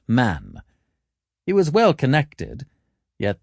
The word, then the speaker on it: Mahon: He had a Roman nose, a snow-white, long beard, and his name was Mahon, but he insisted that it should be pronounced Man.